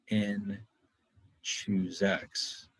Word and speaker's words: n choose x: The formula that we saw earlier, this nx thing, which in English sometimes it's pronounced n choose x, is just shorthand notation for calculating the combinations.